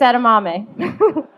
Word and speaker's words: edamame: Take her on sushi dates, even after you've been married for a few years, and get her edamame, and maybe she will eventually pronounce it correctly. Keek, it's edamame.